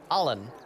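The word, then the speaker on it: Allin: you spell that uh it's spelled like all in a-l-l-i-n but it's pronounced like a-h-h okay okay allen allen allen the elf may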